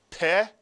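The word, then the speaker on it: פה: Another Hebrew word, one syllable, with the pay. How do you read this word? Peh is right, peh.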